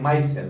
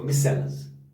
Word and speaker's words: micelle: Micelles are कुछ इसको pronunciate करते हैं माइसेल, कुछ प्रोनाउंसिएट करते हैं माइसेल, कुछ पढ़ते हैं इसको मिसेल्स. अब आपकी मर्जी, आप क्या पढ़ोगे. सो इट इज मिसेल और माइसेल.